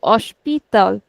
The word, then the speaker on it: hospital: We can break it into three syllables. Osh, pi, tal. So definitely not the second, not the last syllable. We'll never put stress on the last one. We'll put on the second last.